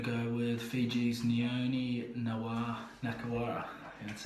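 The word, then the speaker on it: Nakarawa: The other lock, I'm gonna go with Fiji's Nioni Nakawara. That's how you pronounce it.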